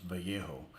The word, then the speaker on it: Vallejo: somebody tries to pronounce Vallejo yeah I don't know why um some people just have trouble with Spanish words I mean two L's is a y you know there's